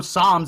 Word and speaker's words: psalms: too and i know psalms i know that p is silent right you don't say the p in psalms he's reintel prompting says